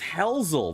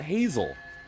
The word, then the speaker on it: Hzel: So, it's pronounced Hzel, not Hazel.